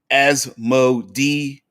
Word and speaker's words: Asmodeus: Mike says, I pronounce Asmodeus in the manner like Amadeus.